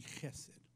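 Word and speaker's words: חסד: It can be chesed and it can be chesed. Okay? Spelled K-E-S-E-D. C-H-E-S-E-D. I found it spelled a couple of different ways, but it's pronounced chesed in the Hebrew.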